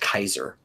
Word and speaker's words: Caesar: What's it in actual Roman? It was pronounced Kaiser. Oh, Oh. Yeah. Okay. But it's been pronounced Caesar for a really long time now.